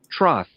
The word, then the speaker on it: troth: It's a Troth. Is that how you say it? Troth. A loyal or pledged faithfulness. Oh, like betrothed.